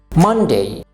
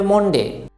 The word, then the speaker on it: Monday: মানডে। এটা অনেকেই বলে মনডে, মনডে নয়, এটা হবে মানডে।